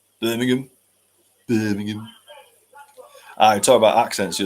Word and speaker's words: Birmingham: in Edinburgh also just as an FYI it's pronounced Birmingham not Birmingham Birmingham to be fair if it is two